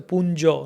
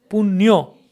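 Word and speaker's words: পুণ্য: But in this Punyo, we don't say Punjo, no. Punyo, Punno, Oranno.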